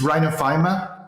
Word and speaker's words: rhinophyma: um what is uh I'm sure I haven't pronounced that correctly Rhino rhinophenophomore what is it but it's rhinophyma which is a rare subgroup of rosacea which